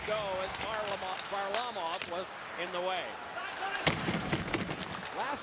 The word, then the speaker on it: Varlamov: And Nate said, well, Varlamov, and he said, yeah, just do that.